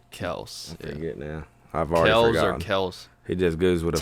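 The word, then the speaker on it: Kelce: that's funny wow travis kel you you you see he uh he said his last name is actually pronounced kells yeah that's what that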